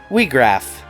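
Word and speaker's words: Wiegraf: So with that new equipment, it's time to face down Weegraf. Yep, that is how it's pronounced.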